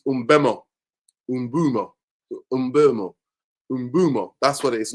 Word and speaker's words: Mbeumo: Umbumo. That's what it is. Not Mbemo. It's Umbumo. That's how you pronounce it.